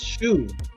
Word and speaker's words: Shu: For the Medunetter, the word in Medunetter for daylight, the sun was Shu, pronounced also Su. Shu and Su are the same words.